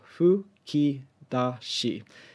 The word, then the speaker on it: 吹き出し: about pronunciation of how how this foo sound is pronounced it's it's basically like it's like in between an fu and a hu so houki dashi generally